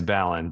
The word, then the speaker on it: Ballin: It's Balon, but yeah, like to pronounce it Ballin.